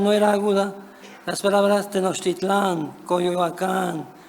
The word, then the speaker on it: Tenochtitlán: Hoy existe en México un debate en torno a la pronunciación aguda de los topónimos Teotihuacán, Tenochtitlán, Coyoacán, etc., las cuales deberían de pronunciarse, según algunos, con una acentuación llana.